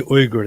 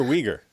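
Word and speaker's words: Uyghur: does he pronounce it Wier how does he pronounce it it should be uger that's just the right way it's uger uger it's not I always hear weager I always hear weager weager talking about the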